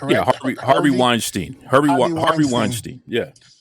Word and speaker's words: Harvey Weinstein: Listen, help me with the name because I always get this guy's name wrong. Wein Weinstein. Am I correct? Yeah. Harvey Harvey Weinstein.